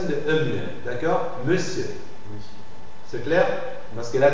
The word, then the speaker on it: monsieur: on n on n la graphie on dans le mot monsieur monsieur c'est une prononciation de d'accord monsieur c'est clair parce que